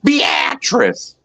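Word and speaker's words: Beatrice: uh you went past a sign that said uh beatric Nebraska and it's actually beatress they're up in this state yeah they they spell it one way and it's pronounced the other way Carney has a a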